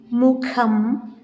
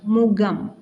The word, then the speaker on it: മുഖം: സുഖം, മുഖം, നഖം, ഖാദി, അഖിലം, ഖരം എന്ന് ശരിയായി ഉച്ചരിക്കുന്നതിന് പകരം നാം സുഖം, മുഖം, നഖം, ഖാദി, അഖിലം, ഖരം എന്നിങ്ങനെ തെറ്റായി ഉച്ചരിക്കുന്നതൊന്ന് ശ്രദ്ധിക്കണേ എന്നാണ് പറയുന്നത്.